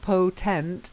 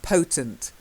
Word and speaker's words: potent: Anyhow, the next one, it's the stress. So it's not potent, it's potent.